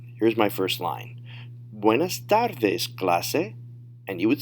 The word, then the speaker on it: buenas tardes: Notice the pronunciation is going to be a little bit different from English, because when you see the E in Spanish, it's an A sound. And a lot of times, there aren't those 5 or 6 different pronunciations of an A. It's always going to be A. In English, it could be A, all kinds of things. But in Spanish, it's always a soft sound.